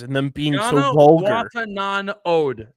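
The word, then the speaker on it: Janewattananond: Yanawatanud. Actually, is how you say it.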